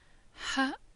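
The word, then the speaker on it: ح: Ha is pronounced as H, but a bit more heavier than we're used to pronounce it, further down from the lungs.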